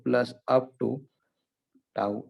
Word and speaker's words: tau: Torque is equal to torque 1, torque 2 plus up to tau n. Okay, its pronunciation is what? Tau.